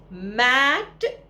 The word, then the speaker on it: mate: उसी तरह से MAT मैट चटाई, MAT मैट चटाई, MATE मेट। क्योंकि ई साइलेंट है, उस साइलेंट ई की वैल्यू ए